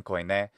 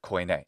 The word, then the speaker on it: Koine: And we took the ancient Greek word with the ancient Greek pronunciation, Koine, and we turned that into the English word Koine. It's not from modern Greek, and that's why it doesn't sound like the modern Greek word kini.